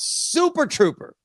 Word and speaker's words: Super Trouper: It's an ABBA tribute called Super Trouper. Yep. Did I pronounce that right?